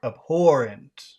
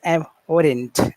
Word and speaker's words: abhorrent: Is it abhorent or abhorren? Which one is correct? Okay. So is abhorent.